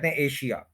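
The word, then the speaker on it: Asia: सुने किसी नेटिव से तो वो बोलेगा ए और फिर या एज एजा एशिया जो है वो नहीं होगा एजा होगा एशिया वर्ड गलत है ठीक है कि अब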